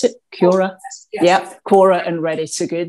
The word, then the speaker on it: Quora: Is that how you pronounce it? Quora?